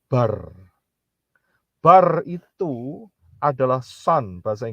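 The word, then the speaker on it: בר: Kalau saudara lihat yang ketiga, perhatikan huruf Beth dan Resh sebelah kanan, ya. Beth dan Resh itu kalau dijadiin satu, itu bacanya bar.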